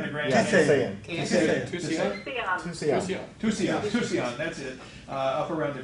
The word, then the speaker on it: Tusayan: was proposed by, I'm going to say the name wrong, what is it? Tayasan? Tayento. It's the Grand, it's up Tusayan? around the Grand Tusayan. Canyon. Tusayan. Tusayan, that's it, up around the Grand Canyon area.